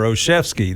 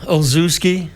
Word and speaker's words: Olszewski: Uh Ozooski. No, that's not it.